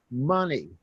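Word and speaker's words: Mene: M-E-N-E, pronounced money.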